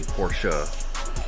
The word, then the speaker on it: Porsche: as he is so explicitly told me to pronounce it correctly Porsche for literally 55 years so I listen to